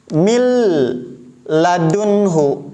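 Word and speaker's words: من لدنه: Mil ladunhu, mil, lam di sini tidak menggunakan tasydid, tapi cara bacanya seperti ditasydid dan tanpa guna, sehingga bacanya datar.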